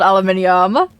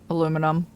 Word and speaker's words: aluminium: Oh, it is it is spelled aluminium. Aluminum aluminium. It there is an extra there is an extra eye there.